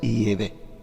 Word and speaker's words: Yahvé: Sin embargo, parece ser que la pronunciación correcta en hebreo arcaico es Yahvé.